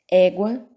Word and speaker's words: égua: 40, quota, égua, guaraná. Viram? Em todas essas situações eu pronunciei o U, tá certo?